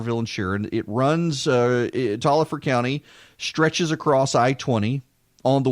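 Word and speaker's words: Taliaferro County: spell of Taliaferro but everyone assures me it's pronounced Tolliver County there is a Crawfordville is a Crawford villain Sharon the towns of Crawford village here and it runs Tolliver County stretches across i-20 on the way towards Greensboro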